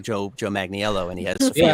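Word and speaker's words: Joe Manganiello: so talking to him, I kind of stumbled on his name, even though I know how to pronounce it. He corrected me. He's like, "Yes, I'm Joe Magniello."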